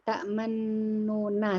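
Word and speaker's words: تَأْمَنَّا: Ta'mannuna. Sebenarnya ta'mannuna. Jadi ada mulutnya maju.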